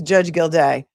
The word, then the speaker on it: Gildea: I don't know why so many people have such a hard time pronouncing this man's name. His name is Judge Gildea.